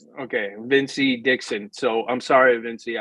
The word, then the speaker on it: Evincii: Okay, Evincii Dixon. So I'm sorry, Evincii. I couldn't pronounce it.